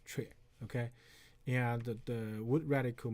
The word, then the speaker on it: 阙: So the right hand side, that's pronounced as 阙.